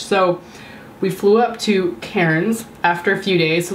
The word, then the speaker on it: Cairns: how it felt however I was constantly corrected to say Cannes but I think that's how the locals say it with an Australian accent because I can't take